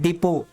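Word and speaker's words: depot: यहां पर स्टीवर्ड है तो टीचर भी ओं साइलेंट इसको सिर्फ पढ़ते डिपो क्या पढ़ते हैं डिपो या डिपो डिपो मतलब क्या होता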